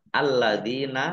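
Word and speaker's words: الَّذِينَ: Alladzina, lamnya dibaca double, ada tasdidnya. Dal kasroh ya sukun mat tobi'i, 2 harokat.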